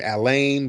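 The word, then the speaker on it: Alain: Um I think sometimes they pronounce his name Ala but just Allan Lock. A L A I N. Allan Lock.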